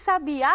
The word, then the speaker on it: sabiá: cuidado com a pronúncia existem palavras que são muito parecidas mas mudam de sentido se você mudar o lugar da sílaba tônica quer ver alguns exemplos